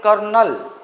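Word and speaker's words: colonel: हम लोग बोलते हैं कर्नल, वो लोग बोलते हैं कॉर्नल। यह स्पेलिंग जो कर्नल कर्नल बोलते हो ना, स्पेलिंग वो है। कहाँ आर कहाँ है?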